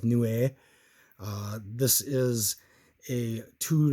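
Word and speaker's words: Niue: the Iowa new Nui n-i-u-e new a um heard two different pronunciations on that but I'm gonna go with new a uh this is a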